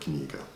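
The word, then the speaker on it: книга: So imagine you're pronouncing the word knee like it's written, kni.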